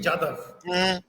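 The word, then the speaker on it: जाधव: लेकिन यादव को दोनों तरह नहीं प्रोनाउंस किया जाता, यादव भी और जादव भी। नो, जादव इज JADHAV, जादव जी, and Yadav is YADAV, Yadav.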